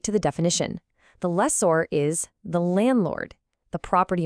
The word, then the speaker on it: lessor: Now, this one is pronounced less or the stresses on that or at the end. It's kind of like the or in the word order, or even better, like the sound in landlord.